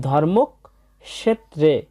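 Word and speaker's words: ধর্মক্ষেত্রে: মূর্ধন্য স টা সেই এককার বহন করছে তাই ধর্মক ক্ষেত্রে এবং শেষে আছে তরফলা এককার তাহলে প্রথমটা আমরা সঠিক উচ্চারণ পেয়ে গেলাম ধর্মক ক্ষেত্রে এরপর আছে কুরুক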